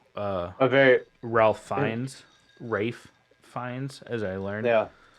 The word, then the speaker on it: Ralph: emotions but I also learned how to correctly pronounce Ralph feines who was Voldemort into Rafe even though it's art I don't want to